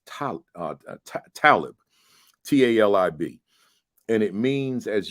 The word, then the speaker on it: Talib: the at the time I thought it was Talib but I had learned over time that it's pronounced Talib t-a-l-i-b and it means as you just said